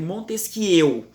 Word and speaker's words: Montesquieu: A gente escreve Montesquieu, mas a pronúncia é Montesquieu, com biquinho, porque o cara é francês, né?